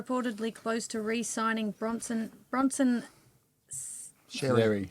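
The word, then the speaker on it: Xerri: Sherry. That's it. Cherry. I keep wanting to pronounce the X.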